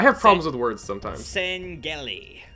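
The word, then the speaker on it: Sangheili: D Covenant I have problems with words sometimes sangi sangi is thaty is that how it's pronounced yes okay yeah I'm I'm actually quite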